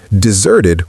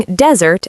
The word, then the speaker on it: desert: The sixth mistake is using desert as a verb, but pronouncing it with first syllable stress. Saying desert your friends is wrong in pronunciation. The verb desert is pronounced desert with second syllable stress.